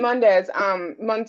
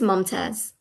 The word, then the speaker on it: Mumtaz: Lieutenant Mundez, I'm sorry. How do you pronounce it? I don't want to mess your name up. It's Mumtaz. Mumtaz.